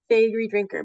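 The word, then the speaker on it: Faegre Drinker: I am a partner with the law firm Fagorree Drinker. No one ever knows how to say it and that's okay. This is how you remember. We are your favorite lawyers. Fagorree Drinker.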